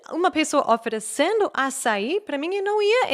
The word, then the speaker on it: açaí: E um exemplo que eu sempre gosto de dar é açaí, por exemplo. Eu aprendi acai.